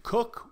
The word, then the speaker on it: Cook: casts happen have a Captain Cook which rhymes with look in the library it's